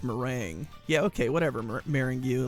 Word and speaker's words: meringue: do with the fact that i could never pronounce her name come on marrying you it's meringue yeah okay whatever marrying you let's go they're